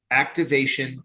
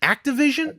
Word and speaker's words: Activision: man this whole thing are you saying how are you pronouncing that's that company's name activation blizzard activation isn't it activision i'm sorry i'm saying activation jesus you are vision